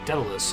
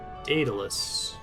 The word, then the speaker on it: Daedalus: Daedalus. Assume some media that pronounced it Daedalus a long time ago, even though it's A first. I think I said it wrong for most of Hades.